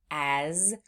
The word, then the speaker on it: as: Sometimes in words that sound like floss words, they end in what sounds like a Z sound, but it's actually being spelled with an S.